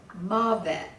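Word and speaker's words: מָוֶת: Okay, and then death is mavet. There should be an accent on the first.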